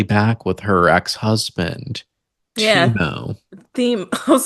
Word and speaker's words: Thiemo: Timo. Theme. I was like, his name is spelled Thiemo. I know, I But was sure, like, that's Timo.